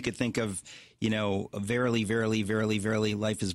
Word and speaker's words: Verily: think of you know verily verily verily verily life is but a dream you know it's just this kind of Happ um it's it rhymes with merily it really is just